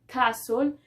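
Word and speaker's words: castle: de y dice que la t es silenciosa en algunas palabras comunes como entonces entre esas palabras comunes que nosotros utilizamos en las cuales la pronunciación lleva la lleva la t muda sería acaso bien que no estoy pronunciando la t casual que significa castillo efe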